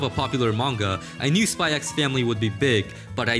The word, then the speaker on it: Spy x Family: to introduce this one spy x family yes i pronounce the x and there's nothing you can say or do to change my mind listen i can sit